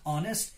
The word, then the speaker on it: honest: hammer on em heel aggressive today but we pronounce it as honest so we have to use n here then